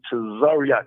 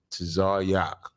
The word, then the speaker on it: Tazaryach: right yeah okay um ain't no e in this man just say to zaryak just say it like that sorry yeah there you